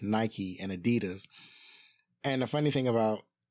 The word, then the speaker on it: Adidas: Obviously, in America, we pronounce Adidas as Adidas.